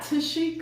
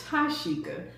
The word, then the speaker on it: Tashika: pronounce my name correctly my name is tashika how do you pronounce my name tashika and it's not tashika it's tashika so can you imagine